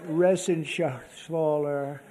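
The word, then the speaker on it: Reschenthaler: thank you and Guy Ren shaer you know that Ren shaer he's uh that's actually the way you pronounce it you know nobody else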